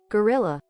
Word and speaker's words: guerrilla: Gorilla. It kind of sounds like gorilla. Like gorilla.